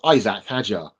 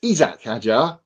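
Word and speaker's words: Isack Hadjar: great and it's also it's not Isaac Hager yeah what is it it's isak haer that's what Alex Jake has always said I'm going with isak haer isak haer call unless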